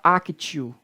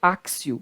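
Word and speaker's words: actio: tem som de ser você não pode falar aqui tio é Acácio dá-se a pronúncia correta é axew aqui do latim akcio outra aberratio delicti o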